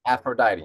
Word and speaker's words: Aphrodite: screw this up is it afrodite or Aphrodite Aphrodite Aphrodite exactly the goddess of love sex and